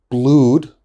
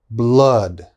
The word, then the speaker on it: blood: a little bit strange my students often say blood that is wrong okay this is blood blood flood blood flood so it's a very strong ah blood flood okay